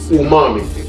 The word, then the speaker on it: umami: term for this called Umami pronunciation as if your mama cooked something good and you have to say o mommy this is o momy